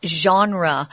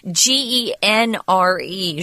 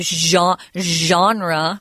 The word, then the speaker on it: genre: We often talk about kinds or types of literature as genre. It's a weird word because it's a French pronunciation, but it's G-E-N-R-E, genre, which is odd. Don't ever say genre or genre.